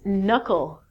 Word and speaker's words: knuckle: your hand here called your knuckles not your k'nuckles good thanks hon these